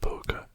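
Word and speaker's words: poque: in the 1830s and the word poker comes from a french word p-o-q-u-e which i presume is pronounced poke there you go all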